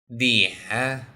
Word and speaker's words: 脸: 脸 First, let's learn the pronunciation.